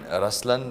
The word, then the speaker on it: Ruslaan: yeah so even in raslan when you say raslan also means the lion it's the attitude of but the right pronunciation is rlan okay there is so